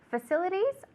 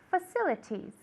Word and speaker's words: facilities: All right, sometimes we don't pronounce the R. We can also say facilities in the States, right? Mhm. I've gotten so used to pronouncing the T's. So we can say facilities or facilities. Okay, so a T or without the T.